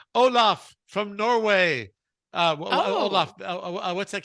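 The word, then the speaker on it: Olav: Okay, but it's pronounced the same at least.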